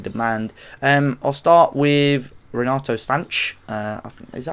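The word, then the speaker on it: Sanches: I'll start with Renato Sanch. Is that how we pronounce it? Sanch, yeah.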